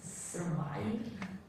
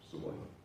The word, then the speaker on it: SVRVIVE: And as your company is called SVR Vive, it probably has something to do with one person. Yeah, so the company is Survive, spelled with SVRVIVE.